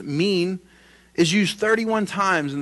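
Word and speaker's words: מין: I in is the best way but it's pronounced mean is used 31 times in the Old Testament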